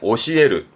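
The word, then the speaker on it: 教える: 가르치다 의미의 오시에르, 오시에르. 그런데요, 이것도 아셔야죠. 에르가 아니라 발음이 와루입니다.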